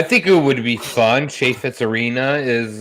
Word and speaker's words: Chaifetz: Chaffetz Arena is, it's a renowned arena in the St. Louis arena. And what? How do you pronounce that? Chaffetz. Oh, I thought you said shit fits.